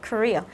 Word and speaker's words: career: Bởi vì là cái phương án C này chúng ta sẽ đọc là career. Thì cái chữ ee ở đây mình sẽ đọc nó thành âm ear, tức là mình sẽ